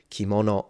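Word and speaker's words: 着物: can see it here kimono and that's at the beginning of a word and it does not turn into a g it's still pronounced as in its original sound which is K literally mono means object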